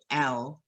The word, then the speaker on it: Nailyon: And his name is Nailyon. Nailyon. So it's actually Naelyon. Naelyon. But it's spelt like nail, like a nail that you hit with a hammer, and yawn.